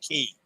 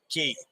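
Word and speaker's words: cay: with an organization that can't properly pronounced key c-a-y key all the other islands in the Bahamas are key except perfect day at CoCo k I think that was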